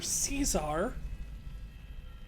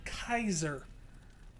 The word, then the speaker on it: Caesar: It's either Caesar or Kaiser. And you're saying Kaiser.